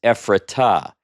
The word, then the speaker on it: Ephratah: Well, in Hebrew, that doesn't say to Ephrat, it says Ephratah, because that's what we call the hey directive.